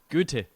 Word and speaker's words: Goethe: Goethe.